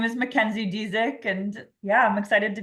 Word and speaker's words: Dezieck: your last name so I'm gonna let you pronounce it that sounds fine my name is McKenzie diic and yeah I'm excited to be here thanks